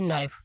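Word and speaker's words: knife: अब हमारा जो अगला लफ्ज है वो है नाइफ। क्योंकि इसमें क्या है? के साइलेंट है और के के बाद भी फिर क्या है? एन है और वो कंसोनेंट में से है।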